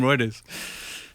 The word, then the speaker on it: Reuters: I think it's Reuters, isn't it? Yeah, that sounds right. It's not because it's not routers. It's not routers either.